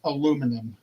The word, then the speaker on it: aluminum: It's aluminum.